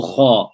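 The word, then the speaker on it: خ: We'll take ghayn or kha. Kha is nice and easy. Kha. If we pronounce kha, you will feel that the tongue is well away from the upper palate of the mouth.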